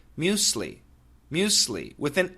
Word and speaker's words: muesli: Okay, Jed, the pronunciation in America is usually muesli. Muesli. And that would be like according to your spelling, I think M-U-S-E-L-I. Okay? So it's basically two syllables, muesli, muesli, muesli. Now, some Americans do say muesli, muesli, with an S sound, okay?